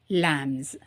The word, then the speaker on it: lamb: லேம்ஸ். லேம்ஸ். Okay. So ஒரே ஒரு ஆட்டுக்குட்டியாக இருந்ததுன்னா லேம், LAMB, லேம். பட் பியை நம்ம உச்சரிக்க மாட்டோம். லேம்ன்றதில் பியை உச்சரிக்க மாட்டோம். லேம் அப்படி தான் சொல்லுவோம்.